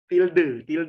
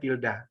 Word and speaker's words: tilde: Tilde, tulisannya tilde, bacanya tilda.